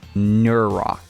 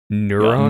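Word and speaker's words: Nuurakh: So, uh, just really quickly, the pronunciation of this is Nurro. N E RO. Nurro.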